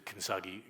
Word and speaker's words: kintsugi: And so the kintsugi, am I saying it right? Kintsugi, thank you. I think probably somebody would pronounce it better.